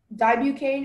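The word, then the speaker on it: dibucaine: Dibucane is used to relieve pain and itching caused by conditions such as sunburn, insect stings, poison ivy, or minor scratches.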